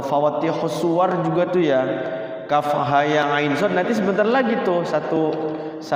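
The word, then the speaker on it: كهيعص: Kalau kita bacanya dengan sendirinya, apa katanya yang apa tuh, ada anekdot tuh kahayangaso katanya. Kahayangaso. Padahal di sini kafnya itu 6 harokat, ha-nya 2 harokat, ya-nya 2 harokat, ain-nya 6 harokat, kemudian setelah ain itu diikhfakan ke sod.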